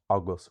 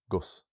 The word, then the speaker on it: agus: So even though we have agus with stress on the a, you will find it pronounced everywhere as these different ways. So you can find it as agus, but also gus, us, is, and even very often as just s.